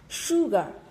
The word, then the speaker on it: sugar: Sugar, sugar, đúng không ạ?